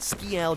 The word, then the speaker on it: Skial: 2our server and yeah I know it's pronounced sky but skial just sounds 20 times funnier so suck this has